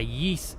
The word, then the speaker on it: Ys: or t played uh a yeast game that's Ys that's how it's spelled and no I'm not